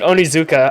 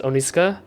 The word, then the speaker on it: Onizuka: Onizuka. As Americans would pronounce it Onizuka. I don't think that's how it's pronounced as Onizuka. Like Onizuka.